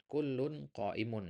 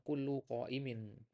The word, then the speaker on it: kullun qaimun: Kullun qaimun. Ini jangan dibaca kullu qaimin karena nggak nyambung mananya. Ya. Kullu, ya, kullu qaimin. Apa tuh kullu qaimin? Nggak masuk mananya, ya. Maka di sini bacanya kullun qaimun.